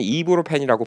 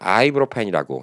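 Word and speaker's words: ibuprofen: 솔직히 예, 에드빌 약보다도 이브로펜이 더 유명하고 미국에서는 이브로펜이라고 발음하면 못 알아듣습니다. 아이브로펜이라고 예, 아이브로펜이라고 얘기를 해야 되고 뭐 스페인 같은 데는 이브로페노 예, 다 발음이 비슷해요.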